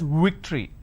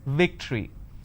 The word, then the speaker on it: victory: word which is victory they pronounce this as victory now remember what i said if you have the letter v you need to bite your lower lip it's victory and if it's w